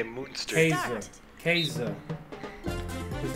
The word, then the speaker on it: Käse: Käse. Is how you pronounce cheese.